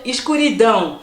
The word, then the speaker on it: escuridão: quand on le lit, si je le prononce à la française, je vais lire escuridão. Pas comme ça, parce qu'il faut savoir que le A tilt et le O, ça fait un en portugais. Donc on va dire escuridão. Par rapport à l'état où vous êtes, le S va se prononcer ch, le S va se prononcer S, donc c'est encore différent. Moi je dis escuridão.